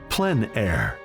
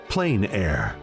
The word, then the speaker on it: plein air: open air or Outdoors the French pronounce it plan air others say plain air no matter how you